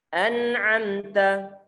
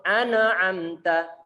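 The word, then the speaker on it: أنعمت: Ini perlu berhati-hati. Karena kadang-kadang tanpa sadar kita itu mengkolkolahkan huruf-huruf nun izhar. Kita berikan pantulan kadang-kadang. Tentunya itu adalah suara ataupun cara baca yang salah. Karena huruf nun bukanlah termasuk huruf qalqalah. Sehingga dia tidak berhak untuk dipantulkan. Tidak boleh kita baca mina ain, nggak boleh. Ataupun ana amta, nggak boleh.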